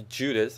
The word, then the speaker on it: Judith: Um, I'm probably going to pronounce it a couple of times different, the Udit or the Judith. In Dutch, you just say Udit, so I'll probably say Udit most of the times.